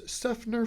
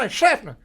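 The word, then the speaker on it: Seffner: you don't you don't you don't say it like that you cut you say sner sner say it to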